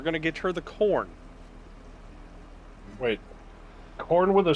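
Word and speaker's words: Khorne: i keep hearing uh corn is spelled k-h-o-r-n-e yeah and so everybody's making the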